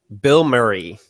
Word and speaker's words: Bilmuri: It's spelled Bilmuri is the name of the band. The only reason I know it's pronounced that way is because their first album, the cover art was Bill Murray's face.